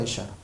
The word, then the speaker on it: 예슈아: 근데 예수는 예수의 언어는 구약에 나오는데 구약에는 예슈아입니다. 발음이 똑같습니다. 여호수아랑 예슈아.